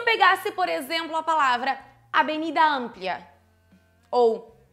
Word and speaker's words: avenida: Olha onde é que está a sílaba tônica. Avenida e harina. São paroxítonas.